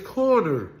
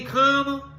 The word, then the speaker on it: Corner: My last name is Corner. Corner, like a street corner.